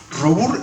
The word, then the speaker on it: Robur: Es Robur, está bien pronunciado.